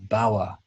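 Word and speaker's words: BAWE: Written English Corpora, or BAWA, not to be pronounced BOR, which would be a terrible acronym.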